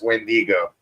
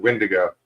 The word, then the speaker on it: wendigo: gay Smasher is saying it's wendigo wendigo yeah not wendo I was mispronouncing it I'm sure I said windigo that's how everybody just